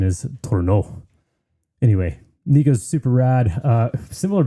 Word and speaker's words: Tournant: is Tournant or Tournant or Tournant, but correct pronunciation is Tournant.